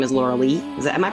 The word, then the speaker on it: Loralee: to talk about and uh her name is Laura Lee. Is that am I pronouncing your name right or is it Laura? Laura Lee.